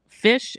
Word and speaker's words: Phish: And Fish is spelled Phish, not Fish.